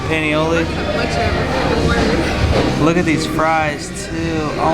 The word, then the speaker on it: paniolo: do you pronounce it something like cowboy burger but Danny it's a Panola paniolo look at these fries